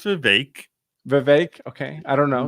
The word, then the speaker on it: Vivek: It's pronounced Vivek.